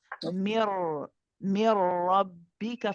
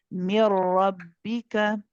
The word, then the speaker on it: من ربك: So I want you to try and keep your lips flat. Mir rabbika. Focus on the ra being pronounced from inside. Mir rabbika.